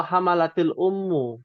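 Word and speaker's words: حملت الأم: hamalat Al Ummu atau hamalatil Ummu karena dia sukun bertemu alif lam bacanya hamalatil Ummu nah bawaan Nah kalau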